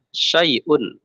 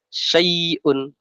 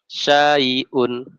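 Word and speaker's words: شَيْءٌ: ya kita lihat contohnya syaiun syaiun ya cara membacanya harus lembut Jangan tajam kalau tajam seperti ini syun syun nah yang betul dia dibaca ada sya baru i baru UN seperti ini syaiun syaiun syaaiun nah seperti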